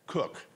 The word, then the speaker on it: Koch: Koch, and I pronounce it correctly? Cook. Cook. I was close. Come on. English is my second language. And this one's German.